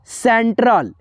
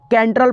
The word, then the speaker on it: central: जैसे यहाँ पे देखो CENTRAL, सेंट्रल, तो क्या है, देखिए यहाँ पे CE से क्या पढ़ेंगे, स पढ़ेंगे, न कि कैंट्रल पढ़ेंगे।